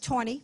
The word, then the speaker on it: Taney: If you remember Chief Justice Taney, Rule Taney, well, some it's actually Taney, but I don't want to fight with you.